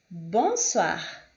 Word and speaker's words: bonsoir: com O e I, a pronúncia deste é sempre wa, wa. Como neste exemplo, moi, toi, bonsoir, mademoiselle, mademoiselle, ok?